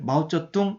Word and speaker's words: 마오쩌둥: 그런데 중국에서는 이것을 마오쩌둥 이렇게 읽습니다.